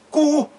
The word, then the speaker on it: Cu: Então, se eu tenho C e tenho um U, então a pronúncia é o quê? Cu.